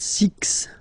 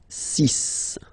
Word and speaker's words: six: pronunciation sisis okay so it's not six it's sis all right then here